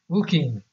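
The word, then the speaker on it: Fucking: It is pronounced Fooking, insists the woman at the Area Information Center.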